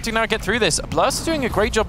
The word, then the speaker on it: Blerst: Blerst.